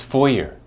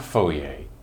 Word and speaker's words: foyer: try are you ready it's foyer not Fourier Fourier four year this word describes the entryway of a house or a building where people pass through and sometimes they may meet each other there it sounds a little like a lawyer so you can use